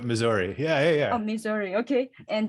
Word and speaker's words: Missouri: misery, like misery bad, but Missouri.